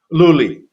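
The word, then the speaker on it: Lulli: Pierre, well, I always say Lully. Was it Pierre Lully? Luli, Piero Lully.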